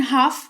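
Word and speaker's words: half: फिलहाल जान लो कि एच ए एल एफ लिखा हुआ है लेकिन हाफ इसको पढ़ेंगे। एल का उच्चारण नहीं करते हैं और इसका मतलब होता है आधा या आधी।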